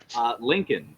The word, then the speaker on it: Lincoln: the answer is it's the only u.s. state capital with a silent L in its name yeah what is Salt